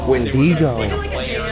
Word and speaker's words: Wendigo: Wendyo. He pronounces it right to like celebrate it or something to like honor it.